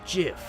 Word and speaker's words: GIF: It's pronounced GIF. Huh? .gif, like the peanut butter. The creator said so.